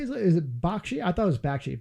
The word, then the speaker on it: Bakshi: Is it Bakshi?